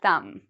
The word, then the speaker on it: thumb: we have m so do we pronounce the b no we do not pronounce the b so we don't say thumb no we say thumb okay um bomb if